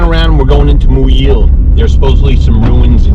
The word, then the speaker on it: Muyil: uh stopped here at muyil and that's how you pronounce it new year new that is really convenient